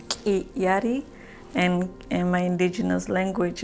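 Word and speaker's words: K'illari: And I go by Kiari, which in Quechua is pronounced Kiyari, and in my indigenous language, in my native language, we use our throat to talk, to make words.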